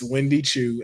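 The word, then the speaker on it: Wendy Choo: Miss Wendy Chu and Rosemary are in action.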